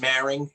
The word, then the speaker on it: Maring: take it from me my last name is maring it's two syllables should be pretty easy